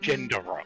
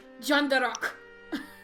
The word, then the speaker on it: Jondarock: I realised it was Jondarock, but I heard Gendarock, and I was like, Nope. okay. Nope. It's just the way he's pronouncing it. Jondarock. He's adding in a D when there's no D.